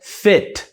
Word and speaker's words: fit: E essa aqui, ó, é fit, que sou eu, né? Um cara super malhado. Fit. Mentira. Fit. A galera que faz crossfit, tem muita gente falando que faz crossfit. Feet são pés.